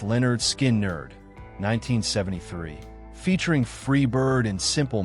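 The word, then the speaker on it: Lynyrd Skynyrd: Leonard Skinnard, their debut album, pronounced Leonard Skin Nerd, 1973, featuring Freeird and Simple Man, established Leonard Skinnard as southern rock icons with their fiery triple guitar attack.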